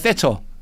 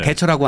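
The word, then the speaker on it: Thatcher: 영국에서 보수 정부로 유명한 건 마가렛 세처, 네네. 대처라고 하는 네. 이제 영국식 발음 영어식 내면 세처입니다.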